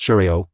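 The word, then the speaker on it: xiao: area on the map shiao pronounced Sho kinda is different from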